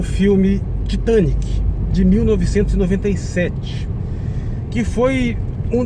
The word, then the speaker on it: Titanic: Porque, veja bem, se você for ouvir em inglês, a pronúncia é Titanic. A sílaba tônica é a segunda, não é a terceira. É Titanic, porque é da palavra Titan. Em português, o adjetivo seria titânico ou titânica, com a segunda sílaba tônica, porque a palavra é titã.